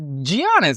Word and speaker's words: Giannis: It's Giannis. It got the G in the front. Why would you even put that there if it was silent?